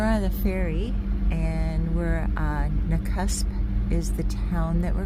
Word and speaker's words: Nakusp: That's how you pronounce it, Nakusp.